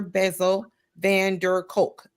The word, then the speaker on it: Bessel van der Kolk: Bessel Van Der Kolk.